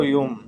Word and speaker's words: Jung: doctor Karl Gustav यूंग, जंग भी बोलते हैं, JUNG, जे is silent, यंग, जो एक इमिनेंट साइकेट्रिस्ट